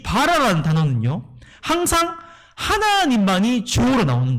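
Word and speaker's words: ברא: 여러분, 창조가 히브리 언어 발음으로 바라거든요. 바라.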